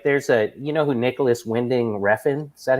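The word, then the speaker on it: Nicolas Winding Refn: Like, there's you know who Nicholas Winding Refn? Is that how you say his name is? Yeah, Nicholas Winding Refn.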